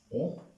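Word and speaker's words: eaux: ओ ओ ओ ओ सबकी pronunciation same होगी, ए यू एक्स, ई ए यू एक्स, ओ सब प्रोनाउंस होंगे, सब सेम तरीके से।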